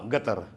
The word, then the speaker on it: Qatar: So sasabihin nila na ga gatar sabi marinig mo iba sabi ng gatar gatar gum gum instead na qatar pino-pronounce sila ng gatar gain gatar yun sa ano nila yun sa local na pagsasalita okay pero dito tayo